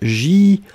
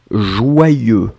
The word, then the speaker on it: joyeux: Joyeux, joyeux, il est complexe. En général, beaucoup de personnes ont des difficultés à l'écrire. Regardez bien comment on l'écrit, hein. Donc c'est vraiment J-O-Y-E-U-X. Joyeux, joyeux, joyeux.